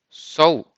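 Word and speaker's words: sol: so strong like soul the L in this case has more a sound like Yahoo so you say so so it happens with many words that finish with the letter L the next one in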